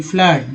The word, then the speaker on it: flood: उसके बाद देखिए FLOOD, फ्लड, डबल ओ का उच्चारण यहाँ आ के रूप में हुआ, ऊ के रूप में नहीं हुआ, फ्लड।